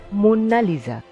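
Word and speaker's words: Mona Lisa: লিওনার্দোদা ভিঞ্চিকে নিয়োগ করেছিলেন মোনালিসার সঠিক উচ্চারণ হলো মুন্নালিজা মুন্নালিজা শব্দটি এসেছে মেডোনালিজা থেকে ইটালিয়ান ভাষায় ম্যাডাম কে বলা হয় ম্যাডোনা সুতরাং ম্যাডোনালিজা অর্থাৎ ম্যাডাম লিজা সেই ম্যাডোনালিজার অপভ্রংশই হলো মোনালিজা বা মোনালিসা অনেকে এই ছবিটির নাম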